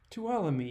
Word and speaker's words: Tuolumne: I actually looked this up. Tuolumne, yeah, I did get it right.